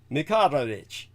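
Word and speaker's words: Mickaharic: Mick Aha Rick. Mikarić is the correct pronunciation, but at any rate, you've got it.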